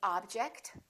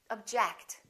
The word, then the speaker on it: object: we say object again it depends on if it's a verb or a noun object is a noun that's an interesting object or verb object i object to your decision let's practice some sentences